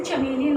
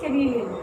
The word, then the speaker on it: chameleon: Some people say chameleon also, but then the right pronunciation is chameleon.